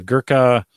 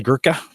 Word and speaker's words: Gurkha: cigars you sent us the Gurkha I think that's how it's pronounced gee you are kha Gurkha seller reserve 12